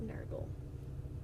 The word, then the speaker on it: Nergal: inspired by was Naugle the way they spell it is nur ji le it's a kind of like gurgle except Nergal which I can appreciate